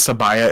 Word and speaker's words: Sabaya: when my name is sabaya and somebody asks me what the middle syllable and my name is bye Girl by Girl by